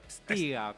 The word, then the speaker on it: Pstinga: Pstinga. ¿Lo Sí, pronuncié ponele, Es- no. A verlo. ¿Cómo? Es Stiga, pero se puede evitar la P, es más fácil.